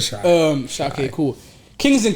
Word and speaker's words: Shai: Say his name, Shea. I call him Shea. I call him Shea. Yeah, I call him Shea. You said Shai.